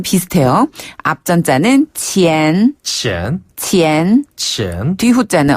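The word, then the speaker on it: 前: 그래서 발음이 비슷해요. 앞전자는 치엔 치엔 치엔 치엔 뒤자는 호 호 호 호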